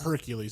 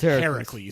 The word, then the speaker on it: Heracles: of all these stories that is also the real like pronunciation of it's not Hercules it's Heracles it's Heracles but we're